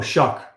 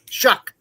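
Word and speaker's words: Shough: How do SL How do you pronounce his name again? Oh, Shuck. Shuck.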